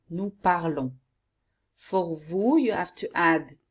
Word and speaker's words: parlons: For nous, which is the correct we, okay, and especially in written, you have to add ons, and you pronounce it on. Nous parlons.